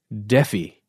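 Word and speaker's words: Defy: a phrase Jesus H Dey d e FY it's spelled like defi right yeah uh where the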